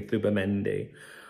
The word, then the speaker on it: Zubimendi: It's spelled Zubimendi, but I think, you know, the Spanish pronunciation would be Zubimendi.